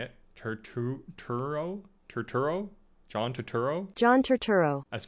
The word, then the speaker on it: Turturro: it was colin farrell's the penguin and john traterno i don't know if that's how you say it turturro john turturro john turturro as carmine falcon i